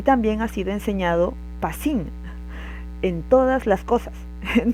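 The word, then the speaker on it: πᾶσιν: Y el segundo todo eh se pronuncia pasín, viene de la misma raíz, pero son dos palabras distintas en el griego.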